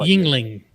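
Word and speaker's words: Yuengling: how do you pronounce the Oh, second bottle? there you go. It's not The Yulang. second bottle. The second It's bottle. Yingling.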